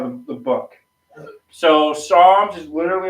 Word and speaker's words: Psalms: yeah I'm in Psalms Psalms but it doesn't say PS a l Ms PS oh that's Psalms the p is silent yeah no you don't